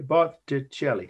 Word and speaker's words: Botticelli: You know, with Italian, if you say it slowly, much like with Spanish, pronounce it correctly, it's pretty phonetic, except that Italians like to use double consonants, like in this name, the two T's and two L's.